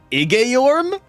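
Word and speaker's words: Igeyorhm: was floundering in despair that she appeared wait igeorum that's how you pronounce that that's new to me like them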